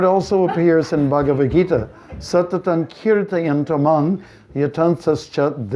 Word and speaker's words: kirtan: the kirtan of course sometimes people say they don't know pronounce it like we're going to the curtain they say are you going to the drapes it's kirtan kirtan and in this verse